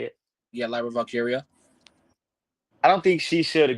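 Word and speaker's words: Lyra Valkyria: Yeah, Lyra Valkyia.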